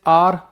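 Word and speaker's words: heir: जैसे आर H silent है।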